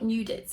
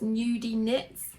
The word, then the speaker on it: Nudie Nits: been saying it wrong it's not nudits it's nudie nits nudy nits anyway I'm